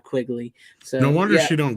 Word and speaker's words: Quigley: uh like I said it's Leanna lynnea quickly I keep saying her name wrong so I always say Leanna it's Linnea Quigley so no wonder she